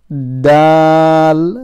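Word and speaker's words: دال: but ho next one dal remember this is not like an english d as well dal but dal same pronunciation from the same place tip of the tongue touching the upper front two teeth raw roll next one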